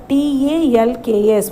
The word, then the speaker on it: talks: TALKS. What is this? Talks. TALKS. Talks. Here L is silent.